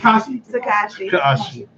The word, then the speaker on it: Tekashi: How do you pronounce it? Tekashi.